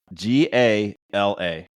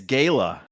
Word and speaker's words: gala: with Mike this time g a l a Gala Keith Gala Allan Gala bam it's Gayla I got I got